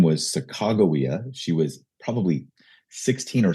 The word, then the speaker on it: Sacagawea: Most most famously is a teenage Native American nursing mother named Sacagawea. We we we learned her name as Sacajawea in high school.